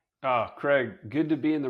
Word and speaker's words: Craig: I will say Greg doesn't annoy me, but it's like, hey, it's not Greg, it's Craig.